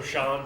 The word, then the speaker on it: Sean: my cousin is also sean but spelled differently how's it spelled s-e-a-n scene that scene but his name is not shown but what about ocean nah that scene that's that's how you pronounce it i actually i actually